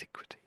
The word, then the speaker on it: antiquity: Antiquity. That's it. So, it's very tempting to think, oh, it's anti something, but no. No. It's tricky, isn't it? So it's just an and then antiquity.